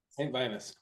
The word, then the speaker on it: Saint Vitus: Saint Vitus? Saint Vitus.